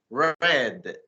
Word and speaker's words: read: has different sounds yeah just like in a read when you say it's in prison it's read what's when you try to see it in the past you say red yeah so yeah it's